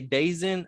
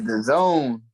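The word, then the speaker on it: DAZN: They say Dazin. Is it Dazin? Dazin? It's the zone.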